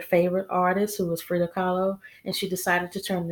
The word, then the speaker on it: Kahlo: It says Kahlo rhymes with follow, and this is me dressing up like Frida.